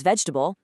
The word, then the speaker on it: vegetable: They crush these four syllable monsters right down to three, so it naturally becomes vegetable and comfortable.